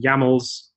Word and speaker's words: YAMLs: But I chose camels because it rhymes with YAMLs, and that's how it weave works.